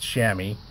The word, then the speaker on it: chamois: am oh I asked it's pronounced chamois I believe if not my French friends will correct me so in English we might spell that SH a mm Y chamois okay but it's chamois in French all right so and